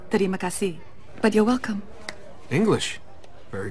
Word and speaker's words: terima kasih: Actually, it's pronounced terima kasih.